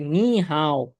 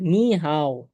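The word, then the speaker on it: 你好: নি হাও। ঠিক আছে? নি হাও। নি হাও এরকম উচ্চারণ।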